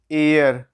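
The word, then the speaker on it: heir: अब इसको देखिए क्या है, ये है एयर, क्या है, एयर। ठीक है, एयर। अब यहाँ पे भी देखिए कि एयर है, एच साइलेंट है, साइलेंट का मतलब क्या,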